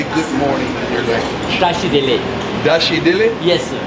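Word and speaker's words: Tashi Delek: Dashi Dele. Dashi Dele? Yes, sir. Dashi Dele.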